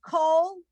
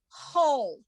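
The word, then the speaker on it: כל: This word is always pronounced with a long O sound. So the one with the dot is coal, and the one without the dot is whole.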